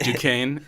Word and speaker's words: Duquesne: name is dick Duquesne like the street in culver city that spelled do quiz knee that's pronounced Duquesne and they just loved